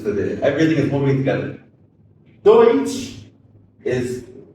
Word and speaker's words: Deutsch: Deutsch is d e u t s c h h by German by English pronunciation of that.